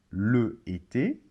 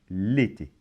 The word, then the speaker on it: l'été: Alors, on ne va pas dire, par exemple, le été, mais on va dire l'été. Donc, comment ça se prononce? Ça se prononce comme si, dans l'été, comme si le L était collé. L'été. D'accord? Donc, le été, non, l'été.